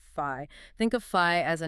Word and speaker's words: phi: number right exactly fi you pronounce it fi think of fi as